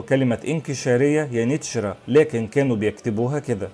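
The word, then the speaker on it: Yeniçeri: وفي اللغة العثمانية حرف الكاف اللي فوقيه ثلاث نقاط لا ينطق كاف لكن بينطق نون، وكذلك حرف الجيم كان بينطق في التركية العثمانية تشا، لكن التبس الأمر على المصريين والعرب لأنهم كانوا بيسمعوا الاسم من الأتراك يانيتشرا، لكن في نفس الوقت لاحظوا وجود كاف عند كتابته ولم يكونوا يعلمون وقتها أن الكاف المنقوطة بتنطق نون في اللغة العثمانية.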